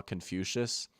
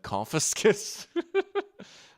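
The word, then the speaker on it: Confucius: Like I remember the first time I saw Confucious I said confiscus.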